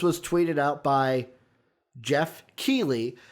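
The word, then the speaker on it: Geoff Keighley: tweeted out by jeff keely finally learned how to say his name by the way so i'm not saying nightly i'm not saying whatever else i was saying jeff keely through the game awards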